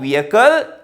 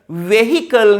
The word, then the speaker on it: vehicle: Your vehicle is in tip top condition. Vehicle නෙවේ correct pronunciation එක vehicle.